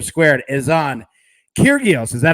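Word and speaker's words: Kyrgios: our recap for today m squared is on kyrgyos is that how you pronounce it mike did i have it correct yeah i'm on mute over here but yeah nick curios right there we go all right money line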